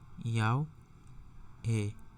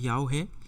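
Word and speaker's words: Yahweh: তো এটা হচ্ছে কি না, এটা হচ্ছে ইয়াও হে, এরকম উচ্চারণটা এরকম, ইয়াও হে।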